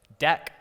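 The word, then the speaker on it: deque: if you're reading it deck which is i think how you pronounce it but it's a double-ended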